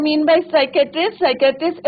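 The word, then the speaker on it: psychiatrist: और उन्होंने कहा कि यस I have taken the obvious step, I talk to अ साइकेट्रिस्ट। अब यहाँ पे बच्चों क्या है, पी साइलेंट रहता है, राइट।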